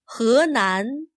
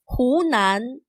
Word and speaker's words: Hunan: those spellings in English listen to the names of these two provinces Hunan Hunan notice that h e is not pronounced as he this Chinese word for